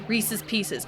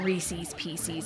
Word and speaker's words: Reese's Pieces: Nothing drives me more bonkers than than anyone saying Reese's. PCs. I had a friend that said it like that and it just it drove me insane. It drove me to madness. It's like that's not what it is. That is not what it is. It is not Reese's Pieces. It's Reese's Pieces. It's like you're a grown ass woman. You're not five.